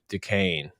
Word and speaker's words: Duquesne: Duquesne, I think is how you say it. Duquesne. St. Thomas Aquinas, but only with D's.